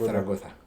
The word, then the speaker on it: Zaragoza: because it's like in Spanish, the Z they pronounce it as so like what you would read as Zaragoza, they read it as Zaragoza, something like that.